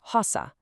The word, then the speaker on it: rosa: Okay, now for pink, rosa. See how that R is right at the front of the word? That makes it guttural. It's coming straight from the back of the throat, rosa.